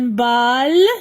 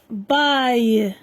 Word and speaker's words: bail: Un bal, non, un bail.